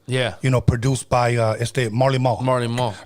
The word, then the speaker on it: Marley Marl: But it's funny how his name is Marley Marl, M-A-R-L. But we would always say Molly Marl.